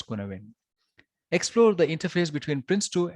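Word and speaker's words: Cynefin: Written as Sinawin, but it's pronounced as Kunawin.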